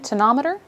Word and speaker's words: tonometer: Okay, and I think today we're here in particular to learn more about the tonometer.